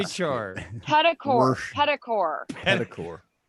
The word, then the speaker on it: petrichor: Wait, Washington pedicore. Petrichor.